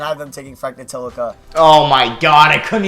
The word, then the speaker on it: Ntilikina: And I have them taking Frank Ntilikina. Oh my god, I couldn't even say his name right. Ntilikina. At least I didn't pronounce it how Curry pronounced it.